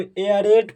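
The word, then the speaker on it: aerate: हम लोग प्रयास करेंगे यदि किसी वर्ड में एई के बाद आर हो तो जो एई दिखाई दे रहा है इसी एई को ए प्रोनाउंस किया जाता है जैसे इसको ए रेट प्रोनाउंस किया जाएगा इसे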